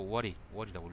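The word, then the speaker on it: 尾張: 이거 오와리라고 읽죠.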